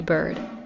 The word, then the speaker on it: Byrd: And of course, like I said, if you are listening or watching me, you can go to Bird on any social media platform. And I should spell that out cuz if you're not watching me